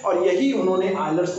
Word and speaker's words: Euler: कुछ लोग इसे यूलर पढ़ते हैं हिंदी में, और हम विदेश और फॉरेनर जो पढ़ते हैं इसको आयलर बोलते हैं, आयलर थ्योरम्स।